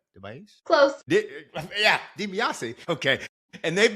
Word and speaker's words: DeBiase: My guests today are Alex and Kate DeBiase. Did I say it right? DeBiase?